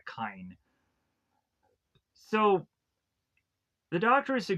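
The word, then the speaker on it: Kyne: So we have Dr. Kine, I believe is the pronunciation of this doctor's name. Or I'll probably just call him Doctor anyways. For that way, I won't mispronounce this guy's name consistently if it's mispronounced. From what it sounded like Kine.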